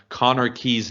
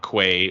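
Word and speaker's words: Connah's Quay: where alaska took on conor key's nomads that's not quay which how i previously pronounced it and the last episode that we were discussing this i'm not sure how q-u-a-y makes the key pronunciation but whatever um after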